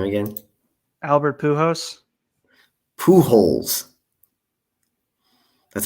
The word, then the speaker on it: Pujols: jones he said his name again albert pujols pujols that's how you say his name uh it